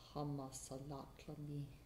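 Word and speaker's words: Hamasalatlami: a sense, wasp dance, hama salatlami, I think it might be pronounced like that.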